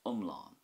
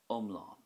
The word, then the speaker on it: iomlán: For example, the Irish word for whole or complete is umlán, umlán. So that has a short sound at the start with more emphasis on the A fada at the end, as in umlán, just like we discussed